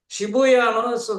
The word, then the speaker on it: Shibuya: underground again say that sh that's it Shibuya very the picture if you if you have